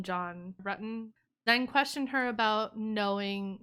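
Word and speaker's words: John Ruetten: asked if she knew john button they pronounced it wrong and she corrected them she's like oh do you mean john rutten then questioned her about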